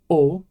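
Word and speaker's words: お: get there I promise now we have o it's always pronounced o so it's like the vowel in go or show or joke okay here we have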